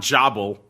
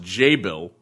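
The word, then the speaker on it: Jabil: This is, as I was corrected on last show by our keen-eared listeners, not Jobble, even though that's how it looks. It's apparently pronounced J-Bill.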